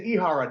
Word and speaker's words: Ihara: Actually, it's Ihara, Dave, but that's okay.